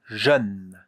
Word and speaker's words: jeune: If we have a consonant and an E at the end, most of the time, you don't hear the E.